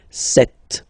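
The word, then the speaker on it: sept: Then here, remember, P is not pronounced. Okay, it doesn't exist, so you get this set sound.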